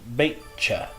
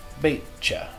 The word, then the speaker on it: beetje: This is pronounced beetje. So the TJ makes a CH sound. So here we have an SH, and here we have a CH. Ja, meisje, beetje.